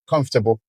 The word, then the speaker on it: comfortable: A syllable can be louder, longer, and clearer, while sometimes some syllables can only be louder and clearer as in com- in the word comfortable. Comfortable. So, that's different from ter- eternal and com- comfortable. So, we take a look